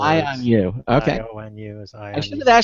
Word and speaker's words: IONU: you I'm good uh just to clarify that pronunciation is I on you it's sort of a play on words I on you okay is I on